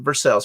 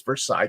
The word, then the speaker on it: Versailles: You know you're from Kentucky when you pronounce it Versailles. For everyone else outside of Kentucky, it's Versailles, Kentucky.